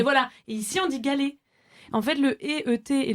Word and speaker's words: galet: que dans la Drôme, on ne prononce pas le ET comme un galet. Enfin, je pense que là, tout le monde dit galet ou pas? Moi, Je j'ai sais pas. galé.